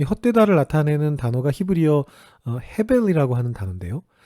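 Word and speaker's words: הֶבֶל: 이 헛되다를 나타내는 단어가 히브리어 헤벨이라고 하는 단어인데요. 근데 이것이 또 전도서에서는 발음이 약간 변형돼 가지고 하벨로 발음이 됩니다.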